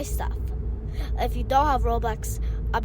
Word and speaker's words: Roblox: I want to understand like roadblocks like can you okay what I said it wrong yeah so Roblox is a game thank you okay how did I say it wrong you said Roblox Roblox there you go so I'll explain it